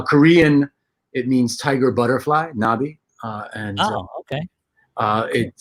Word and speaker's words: Knobbe: it means tiger butterfly knobby uh and okay uh it uh is um a silent k but we do have that uh that e that we pronounce right okay cool cool